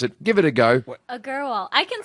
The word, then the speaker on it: Agarwal: I try to say her second name all the time, but I don't think she can pronounce it. Give it a go. Agarwal.